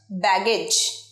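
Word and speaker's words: baggage: water perfect পরের word ব্যাগেজ ব্যাগপত্র এটাই বলতো ব্যাগেজ ভুল বলো একদম সঠিকটা কি জানি চলো ব্যাগেজ এজ ব্যাগেজে আমরা এজ বলছি এজটা ভুল কি বলবো ইজ ব্যাগেজ ব্যাগেজ one more time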